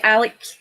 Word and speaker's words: Alex: A lot of the media say that Alex Salmond, and they say that, but it's like Alec, you know. I think that's like a Scottish thing.